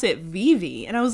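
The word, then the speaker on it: Vevay: it is v-e-v-a-y but it's pronounced vivi because it's swiss like it's a switzerland county so that's just how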